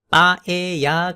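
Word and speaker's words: paella: 빠야 has rice, meat and seafood in it. 여기에 빠에야 같은 느낌으로 읽으면 되겠습니다. L 발음은 거의 없는 샘라고 하는 요리는 가지고 있는데요.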